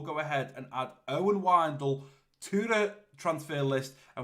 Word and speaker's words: Wijndal: Now, if I click into this, he did pronounce or spell out how I pronounce that left back, and it's Wijndal.